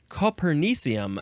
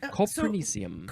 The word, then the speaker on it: copernicium: Now, I think you would pronounce it Copernicium. It's from the word or the name Copernicus. Copernicus.